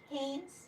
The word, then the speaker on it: Haines: Is it Haines? Haines. Okay. Yeah. It is. I was saying it right the whole time. I always say like the underwear, you know.